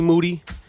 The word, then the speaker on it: Moody: call up monetti G Moody rhymes with Duty um if you never